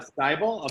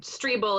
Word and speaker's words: Strebel: um my name is it's actually street bull it's pronounced but even my own mom gets it wrong so no worries um but yeah i'm strebel i'm a citizen action